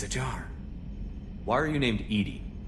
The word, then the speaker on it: EDI: Why are you named EDI? EDI is the phonetic pronunciation of EDI.